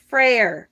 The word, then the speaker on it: Freyr: And the god that is represented is, hi Kristen, is Freyr. F-R-E-Y-R, Freyr. Don't ask me how to pronounce all of these.